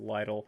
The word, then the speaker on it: Lidl: That is Lidl, sometimes pronounced Lidl.